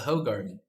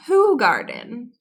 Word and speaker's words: Hoegaarden: garden this is the hoe garden get your hose here so welcome to the wrong it's actually pronounced who garden this is based off